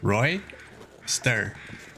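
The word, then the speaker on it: roister: split into two it is pronounced Roy stir and that means to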